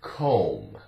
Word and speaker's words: comb: Here's the word comb, comb, C-O-M-B. That's it. The O sounds long, O, comb, comb, like you have a comb and use it to comb your hair.